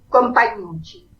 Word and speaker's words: Compagnucci: Compagnucci. Viene del italiano, porque es italiano, compañerito.